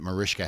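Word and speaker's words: Mariska: And it's surprising the kind of childhood that Marishka had.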